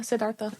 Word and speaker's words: Siddhartha: I was thinking about when they talked about Buddhism, and they said that when Siddhartha, is that how you say it? Yeah, Siddhartha.